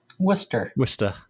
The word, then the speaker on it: Worcester: Well, and Leominster or Leominster is right outside of the big city in Central Massachusetts, which is pronounced Worcester, which would have pronounced over here.